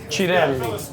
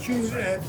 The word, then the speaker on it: Cirelli: Let's the Italian way. Cirelli. It's the Italian way. Cirelli is the Italian way. Cirelli.